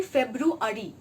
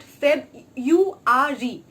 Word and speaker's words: February: So you should make sure that you should pronounce those R words. Now what happens is that often what we do, it is actually February, and many people have this tendency of pronouncing at Feb-U-R-E. So February and Feb-U-R-E, there is a difference, right? So February, it's February, it's not Feb-U-R-E.